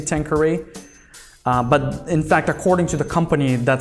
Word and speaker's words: Tanqueray: have the tanker a10 yes that's how it's pronounced Tanqueray I hear a lot of people pronouncing it tanga ray in fact some bartenders will actually correct you when you say tanker e but in fact according to the company that's